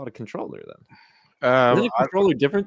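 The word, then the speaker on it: comptroller: the kind contribution hey Ray com controller is pronounced controller just something I noticed this week that you've said several times lol really I thought a comp controller like a comp controller why wouldn't they just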